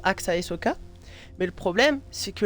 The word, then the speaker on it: Axaehsoka: pseudo il se prononce AXA Soka mais le problème c'est que le S entre deux voyelle ça fait Z attends pourquoi j'ai un